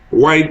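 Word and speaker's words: Wythe: And White Avenue is spelled W-Y-T-H-E.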